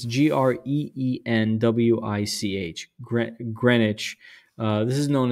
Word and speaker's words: Greenwich: uh I'm not sure I think this is pronounced Greenwich it's g-r-e-e-n-w-i-c-h Greenwich uh this is known as the Queen's house this is Indigo Jones another um prominent um English architect 1616.